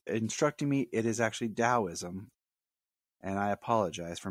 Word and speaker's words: Daoism: my wife is instructing me it is actually Daoism and I apologize for mispronouncing it thank you Jania I'll probably get